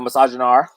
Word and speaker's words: misogynoir: The misogynoir. The misogynoir. No R, like noir.